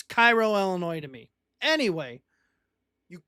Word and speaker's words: Cairo: the city of Cairo here they call it Cairo right it's Cairo.